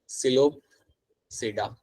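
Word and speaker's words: Psilopsida: तो पहला ग्रुप मेरा यहाँ पे होगा, दैट इज माय सिलोपसीडा. सिलोपसीडा. तो P यहाँ पे है मेरा साइलेंट.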